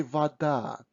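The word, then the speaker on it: вода: russian um words so when o is not stressed we pronounce it almost always as a so we say vada but when we write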